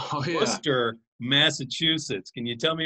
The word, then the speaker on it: Worcester: Now you guys are located in, and let me pronounce this correctly, Worcester, Massachusetts. Can you tell me about the city and the DCU Center? Yes, sir. So Worcester, Massachusetts, it's, the most central location in our state.